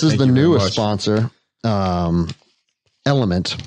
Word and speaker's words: LMNT: the newest sponsor um element but it's it's lmnt is how they how they spell it and it's a rehydration